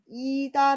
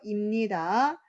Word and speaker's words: 입니다: " ida" 라고 읽지 마세요 . "imnida" 라고 읽으세요 .